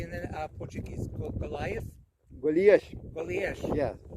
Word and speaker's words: Golias: Golias.